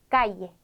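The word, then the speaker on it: calle: 발음해 주시면 되는 겁니다 그래서 유비야 유비 야 까이에 까이에라고 읽습니다 그런데 여러분 아시는 것처럼 스페인으로 쓰는 나라가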